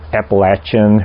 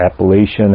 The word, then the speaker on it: Appalachian: are so you have the Appalachian or Appalachian however you want to pronounce it mountains down there